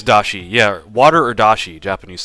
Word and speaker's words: dashi: Is it dashi or what is it? Because I'm gonna say it wrong every single time, unless I know what it is. Yeah, it is dashi.